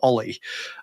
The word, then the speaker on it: o11y: was like yes it's olle that's you know you just say Ollie where all of our